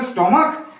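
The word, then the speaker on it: stomach: ই এস যোগ হয়েছিল কিন্তু এখানে স্টমাক সেখানে শেষে সিএইচ থাকার জন্য সরি শেষে সিএইচ আছে কিন্তু ক উচ্চারণের জন্য কি হবে না এস যোগ হবে শুধুমাত্র এখানে এস যোগ হয়েছে এখানে ইএস যোগ হয়েছে কারণ কারণ একটাই না সিএইচ এর উচ্চারণ এখানে হলো চ আর এখানে সিএইচ এর উচ্চারণ হলো ক ঠিক আছে রুল নাম্বার ফোর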